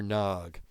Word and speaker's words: Nag: Sometimes you say Nag when you read, Nag or Nog.